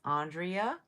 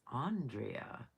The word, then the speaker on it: Andrea: My name is Andrea that is how I pronounce it. So if you use my name my given name it is Andrea.